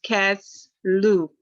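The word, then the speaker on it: Kislev: associated with this is kazlu another way to spell it is k-i-s-l look at my little note here i got can you pronounce that again it's cass lou c a s l e u now get a little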